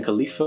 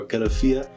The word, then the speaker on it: Califia: First, we went over Queen Khalifa or Califia, depending on how you want to pronounce it.